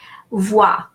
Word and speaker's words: vois: Vois. OI is pronounced wa in French.